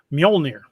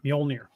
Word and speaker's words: Mjolnir: Mjolnir, like Thor's hammer, Mjolnir.